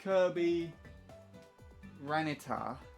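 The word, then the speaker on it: Kirbyranitar: Also, it's pronounced Kirby Ranitar. Came from the character Kirby and the Pokemon trait, the Pokemon Tyranitar. Fair enough.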